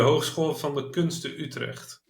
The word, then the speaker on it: Hogeschool van de Kunsten Utrecht: I don't even want to attempt to try to pronounce. Uh, De HKU, de Hogeschool van de Kunsten Utrecht.